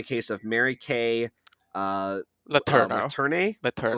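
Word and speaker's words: Letourneau: her youth, particularly the case of Mary Kay Laterno. Laterne. Laterno. Laterno. Okay, thanks for the pronunciation.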